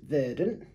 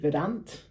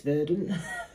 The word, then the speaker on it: Verdant: was asking we've got a can of it's pronounced verdant helpful verdant thank you um it hits an